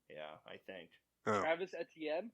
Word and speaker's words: Etienne: Is it Tene? Etienne. I think it's Etienne? Etienne? Yeah, I think. Oh. Travis Etienne?